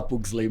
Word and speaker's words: Pugsley: sobrenome do jeito que ele tem que ser pronunciado, não abrasileirado. Ah, tá. Não, Pugsley. se for... aí seria Né? Pugsley, Jeff né? Pugsley. Mas aqui a gente fala Pugsley mesmo, que é mais fácil.